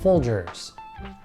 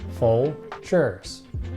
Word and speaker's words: Folgers: this one they make coffee is pronounced Folgers full shirts Folgers and next a shaving